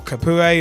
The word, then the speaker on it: Capoue: Chadli from FC Twente for £7 million, Etienne Capoue, or Capoue as some may pronounce it, from Toulouse for £9 million, Vlad